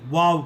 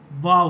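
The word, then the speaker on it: واو: इसका दो उच्चारण है और दोनों ही उच्चारण सही हैं. एक उच्चारण होता है जैसा कि अंग्रेज़ी में WOW वाव कहते हैं, वही उच्चारण है. और दूसरा उच्चारण है जो अंग्रेज़ी का VAW वाव होता है.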